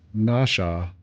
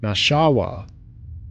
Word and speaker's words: Nashua: Uh, there is also a Nashua in Iowa, so I I know how to pronounce it. podcast guy kept saying nasha and I cried. Oh no. Nasha nashawa.